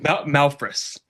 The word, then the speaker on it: Malphrus: Malphrus.